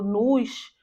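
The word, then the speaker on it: nous: né então no voo observação que em francês nós não pronunciamos s no final da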